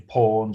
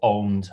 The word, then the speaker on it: Pwned: Who is the founder of the website Have I Been Pwned or Owned, however you want to pronounce it?